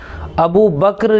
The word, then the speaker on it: ابو بکر: بسم اللہ الرحمن الرحیم، حامدا و مصلیا و مسلما، اما بعد۔ ابو بکر یہ اصل اس نام کا تلفظ ہے، اور ابو کے معنی عربی میں